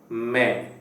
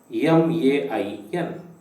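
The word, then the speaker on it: मैं: is m i n it must not be pronounced as main as in main switch okay it is me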